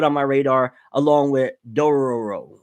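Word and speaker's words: Dororo: my radar along with Dora a row or Dora row I think that's how you pronounce it yeah shield heroes matter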